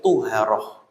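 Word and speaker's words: طُهارة: Nah, yang kedua ada juga kata dengan tulisan sama seperti thaaharah tapi huruf th-nya di domah ya. Yang tadinya dibaca thaaharah menjadi tuharah.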